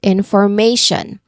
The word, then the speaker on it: information: So it's consistent meaning that yes, may is the stressed syllable in the word information.